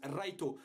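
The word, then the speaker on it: ライト: s'appelle Light, en japonais, son nom se prononce Raito.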